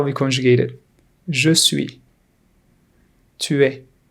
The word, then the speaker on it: tu es: Tu es. S is silent here.